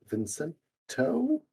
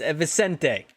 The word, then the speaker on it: Vicente: Second move for Vincento. First off, you guys gotta stop getting my name wrong. It's Vicente. Vicente.